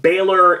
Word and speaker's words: Balor: get us in the Baylor and kid match Balor and kid match I gotta use to that because the the pronunciation is crazy the way it's spelled the Balor and a